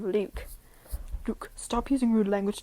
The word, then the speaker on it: Luke: She got my name wrong too, kept calling me Fluke instead of Luke.